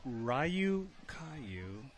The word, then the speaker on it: Ryukyu: okay here we go rayu Caillou is the proper way to pronounce thank you Eric C